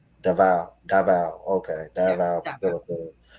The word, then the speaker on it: Davao: Did I pronounce that right? Davao.